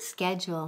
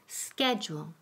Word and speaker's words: schedule: Ah, schedule. Muy bien, la palabra del día. Notice la pronunciación, the pronunciation. Yo digo schedule, que es la forma americana. Y la forma inglesa es schedule.